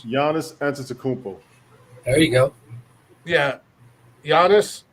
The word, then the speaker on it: Giannis Antetokounmpo: Oh, why can't you guys just have names that I can pronounce? Giannis Antetokounmpo.